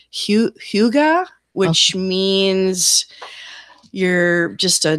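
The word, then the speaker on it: hygge: pronounce that it's a it's a Scandinavian worse spelled hyg GA it's Hyuga which means you're just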